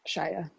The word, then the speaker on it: Shia: Yep, Shia.